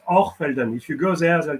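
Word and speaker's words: Hochfelden: when you are Zan because they pronounce the CH as an R so it's or felden if you go there they'll tell you Oren but it spes Elden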